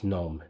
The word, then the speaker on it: GNOME: it was gnome because gnome is the correct way to spell that word in English the g is silent and then and I